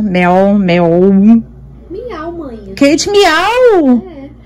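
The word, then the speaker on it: Meow: Eu sempre pronuncio o nome desse. É aí, ó, embaixo. Meol, meol, meol. Miau, mãe.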